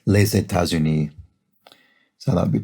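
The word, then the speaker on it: les États-Unis: the which is uh the s of which is silent unless it's followed by a vowel as in this case laissez tazuni so that would be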